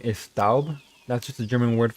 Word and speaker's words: Staub: The ST in Staub pronounced like how you'd say shtick, or Schaub, or Staub.